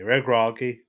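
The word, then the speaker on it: Regragui: YouTube video it's going to tell me to pronounce it is okay YouTube is said RI reg yeah regi regi okay okay reg ragi valid reg ragi is is as has kind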